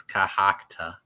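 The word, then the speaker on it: Cohoctah: It's Cohocta.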